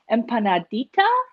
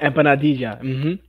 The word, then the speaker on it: empanadilla: And I think you would call these, and correct my pronunciation, but I think you would call this like an empanadita, like a little one. Yeah, empanadilla.